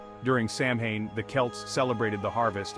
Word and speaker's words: Samhain: Our spooky celebration finds its origins in an ancient Celtic festival known as Samhain, pronounced Samhain.